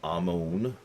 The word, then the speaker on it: Amon: Amon would be Amun.